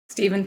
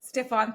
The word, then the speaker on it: Stephan: Stephen, thank you. No, I have to start again because I said your name wrong.